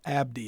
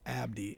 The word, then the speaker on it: Abedi: So Abdi, it took me a little bit. I had to practice Abdi, and that is. So I'm Palestinian, born in Lebanon. So that's the E is silent, tricks you.